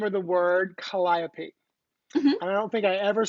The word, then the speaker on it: Calliope: was pronounced burgundy oh and um calliope they just pronounced the calliope which is awful no it's that when you hear about the calliope projects it's calliope shut up hey kalyn welcome